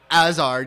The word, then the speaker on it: Hazard: Hazard, because they don't pronounce the H.